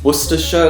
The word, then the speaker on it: Worcestershire: Greenwich is pronounced Greenwich, the Cester suffix is just ster, Worcestershire is Worcestershire, like they don't even